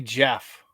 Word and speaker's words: Geoff: That would be Jeff.